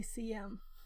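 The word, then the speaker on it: SIEM: a debate yesterday on how to pronounce that right I think I'll say CM uh which is a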